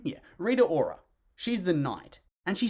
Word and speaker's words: Rita Ora: is it reader or is that hey you pronounce her name yeah rita ora she's the knight and she sounds like she's